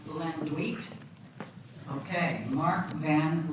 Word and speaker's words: Landuyt: Mark, his last name is pronounced Lendwit. Okay. Mark Van Landwit, longtime resident of Contraosta County.